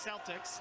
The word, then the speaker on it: Celtics: Spelled just like the NBA team in Boston, but not pronounced the same. That's Celtics.